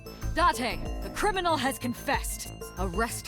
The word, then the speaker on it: Date: This is a Japanese game, of course you pronounce it Date.